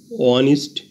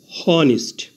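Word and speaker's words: honest: করলে হয় হনারেবল কিন্তু এইচ এর উচ্চারণ না হয়ে ভাওয়েল ও থেকে উচ্চারণ শুরু হয়েছে অনারাবল এইচ এর উচ্চারণ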